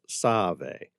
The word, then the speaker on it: Save: The river's proper name is Motsave, or Save, pronounced Save.